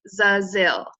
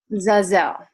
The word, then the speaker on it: Zazil: So before we start, I just want to let you guys know my name is pronounced Zazil. Zazzle. Yes.